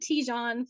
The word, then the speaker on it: Tijan: please pronounce it because I always said tejan for years and you're looking with TJ and I'm like that's probably right well okay and I'm